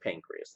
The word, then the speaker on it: pancreas: about the pancreas and please don't add an e on the end of pancreas okay it's just pancreas that's why you spell it okay if I say